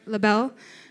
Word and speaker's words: LIBELLE: Okay, LIBELLE.